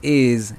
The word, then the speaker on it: is: termina en s is esta s se pronuncia Z vibrando porque la vocal que está antes de esa s es un sonido sonoro es decir que tus